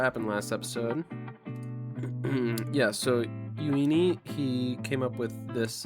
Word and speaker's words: Euini: I never know if they're going to pronounce like the e at the start of that like how they do in Japanese or if it's going to be more of a English pronunciation. It looks like for this one it's more of an English.